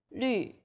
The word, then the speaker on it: 绿: The U sound is like the French U. Your lips should be round and pouting. 绿, 女.